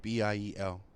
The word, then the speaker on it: Biel: So I put B-I-E-L, and I pronounced it Biel, Biels.